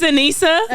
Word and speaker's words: Anissa: And I'm like, "Okay, I'm clearly saying it right." No, it's Ana. like think of Anie, but it's okay. Please keep that in there for comedic relief.